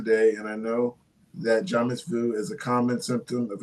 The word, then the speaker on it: jamais vu: Jamais vu. Did I say it right? Jamais vu, yeah.